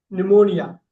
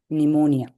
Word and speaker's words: pneumonia: நிமோனியா. அந்த Pneumonia, yeah, use correct. Pneumonia.